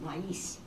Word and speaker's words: maíz: Helen said, the Spanish word isn't pronounced with a long A, Nancy. It has 2 syllables, maíz.